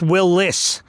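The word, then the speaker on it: Willys: want to say it but it is technically pronounced Willis is how he pronounced his name even though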